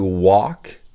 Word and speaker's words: walk: Marcher, c'est to walk, et le L est muet, d'accord? The L is silent.